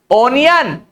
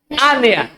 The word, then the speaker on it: onion: ONION, ओनियन, ऑनियन। OPINION, ओपिनियन, opinion. So this is pronunciation.